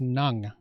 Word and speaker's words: ng: there so this word right here it's actually pronounced nang and it's an article uh kind of like